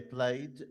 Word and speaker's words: played: Okay, played مقطع واحد. Play it مقطعين.